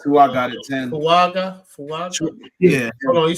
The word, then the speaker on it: Fuaga: Fuaga? Yeah. Hold on, you said Oregon State? I think it's Fuaga.